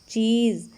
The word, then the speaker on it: चीज़: और क्या है ये शब्द, चीज़। और ये कौन से वर्ण के नीचे लगा है, ज। और ज के नीचे नुक्ता लगते ही ये इसका उच्चारण क्या बन गया, ज।